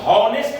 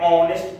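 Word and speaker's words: honest: Consonant तो है, लेकिन इसको हम हॉनेस्ट नहीं पढ़ रहे हैं, हॉनेस्ट नहीं पढ़ रहे हैं, हम इसे क्या पढ़ रहे हैं, ऑनेस्ट पढ़ रहे हैं, ऑनेस्ट, ओ, यानी ये एच का उच्चारण ओ, माने एच और ओ मिलके ओ आ रहा है, ओ से आ रहा है, हा का तो नाम भी नहीं, क्योंकि इसका उच्चारण, पहला अक्षर का उच्चारण हा से नहीं है।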